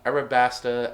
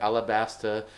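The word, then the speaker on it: Alabasta: was that inspired uh Arabasta alabastera however you decide to like uh you know word it. I think either of those uh two pronunciations are fine.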